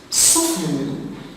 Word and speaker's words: soften: Soften, the silent letter is the T after the F.